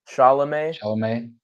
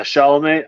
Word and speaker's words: Chalamet: Chalamet. Yeah, Chalamet.